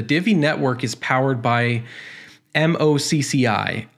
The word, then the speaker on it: MOCCI: As you can see right here, the Divi network is powered by MOCCI. I think it's pronounced Mochi. I'm hoping that's the way it's pronounced.